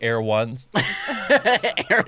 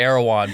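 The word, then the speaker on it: Erewhon: he says it like he says it like a shoe like air ones yeah i say arowan but he says people in middle middle america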